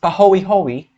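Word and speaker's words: pāhoehoe: hand this this other type of lava flow pronounced pahoehoe is less viscous and looks ropey because even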